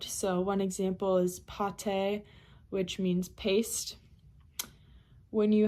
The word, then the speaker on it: pâté: When you have an accent circonflexe above an A, it makes it into an ah sound. So one example is pâté, which means paste.